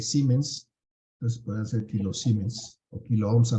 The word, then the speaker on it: Siemens: también se llama siemens se escribe siemens pero se lee siemens Entonces se pueden hacer